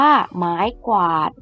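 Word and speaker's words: ไม้กวาด: ควาง อ่าน ว่า ควาง ไม้ กวาด อ่าน ว่า ไม้ กวาด ขอ ไข่ ควบ วอแหวน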